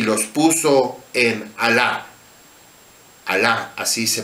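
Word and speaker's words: Halah: Tomó Samaria y llevó a Israel cautivo a Asiria y los puso en Alá, así se pronuncia, en Abor, junto al río Gozán, y en las ciudades de los medos.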